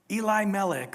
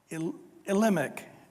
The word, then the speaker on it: Elimelech: You guys might remember back last week in chapter 1, a guy by the name of Elimelech or Elimelech, depends on how you say it, and his wife Naomi.